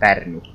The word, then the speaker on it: Pärnu: Well, I think it's pronounced like Finnish, so Pärnu.